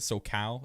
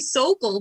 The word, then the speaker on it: Sokol: So cal or so cold? It's supposed to be Sokol, but if you want to tell me I'm cool, I could do with that.